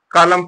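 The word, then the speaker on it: column: हो गया है एम के बाद एन है साइलेंट है तो बचा क्या कॉलम पड़ा क्या बचा कॉलम पढ़ा कलम सी ओ एल यू एम कॉलम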